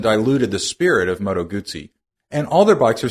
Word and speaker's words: Guzzi: Today, Guzzi, pronounce it like pizza, is best known for their trademark 90-degree V-twin engine and shaft drive.